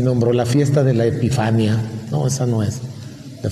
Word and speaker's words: epifanía: a conocer presentarse también puede ser epifanía con acento en la última y no epifanía epifania es una señora